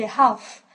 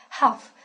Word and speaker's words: half: simple simple simple and in some certain words then the letter L is not pronounced at all and in that case